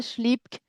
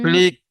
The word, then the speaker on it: Schlick: vois, Schlipk, je ne t'entends plus. Schlick, c'est schlick. Oui, Schlick. J'enlève le P.